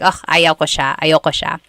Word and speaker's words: ayoko: That's another thing with pronunciation. Usually it's pronounced ayoko siya. So if you want to sound a little bit more natural, you put everything together, ayoko siya. Ayaw ko siya is ayoko siya.